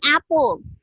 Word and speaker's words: apple: Okay, although there is double P, isa lang siya ka P, kaya dili man siya double P pag pronounce. Dili siya apple. It's apple lang siya. So, it's only one P.